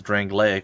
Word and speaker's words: Drangleic: wrong lake or drangleic she's the only one who says drangleic which is how I would pronounce it as well so it's weird I